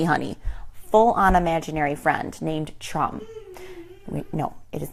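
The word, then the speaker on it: Tchrum: If I had to spell it, it would be T-C-H-R-U-M. And it's best to pronounce it with as much spit coming out of your mouth as possible, ideally.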